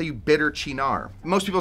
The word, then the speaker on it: Cynar: Well, there's 2 ways. Yeah. You probably say Cynar. I say Cynar. Oh, both wrong. Cynar.